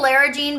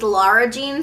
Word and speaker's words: Lara Jean: something like this consistency keep saying Lera Jean but I know in the movie it's Laura Jean so let me preface by saying if I say it wrong I do know her actual name is Laura Jean it's just out of habit I read her name as Lyra Jean when I first read